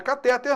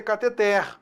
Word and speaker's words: cateter: Cuidado, não é catéter não, hein? A pronúncia correta é cateter oxítona durex.